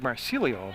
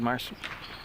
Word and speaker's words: Massarello: Looks like Marcelio, but I asked Coach Larson. He said Marcello, and that's going to be an up fake, and they'll come back around.